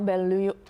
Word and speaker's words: Bolillo: Also talk about El Bolillo. I say it wrong all the time. Bolillo. Bolillo Bakery.